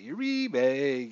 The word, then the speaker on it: Uribe: Uribe, got it now.